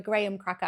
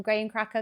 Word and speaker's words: graham cracker: If you can imagine that, that's probably quite close to a graham cracker. I keep calling them graham cracker, graham cracker, whichever. I'm British, I pronounce that A.